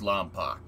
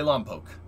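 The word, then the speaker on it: Lompoc: diesel in the fast and furious two years lampak i'll die before i go back yeah everybody does pronounce it that way i pronounced it that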